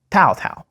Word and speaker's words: Cao Cao: sound in front of it like test disk tau tau a man so famous for his fast troop